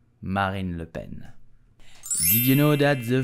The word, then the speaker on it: Marine Le Pen: far-right party in France so how do we pronounce her name correctly we will say Marin Lupen Marin Lupen Marine Le Pen Marine Le Ben did you know that the father of Marine